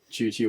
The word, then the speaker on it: Chuchi: Senator Chuchi, but the first H is silent.